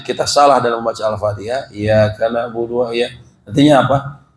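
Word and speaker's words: إِيَّاكَ: Tasydid ini artinya asalnya ada 2 huruf, Pak. Ya-nya ada 2.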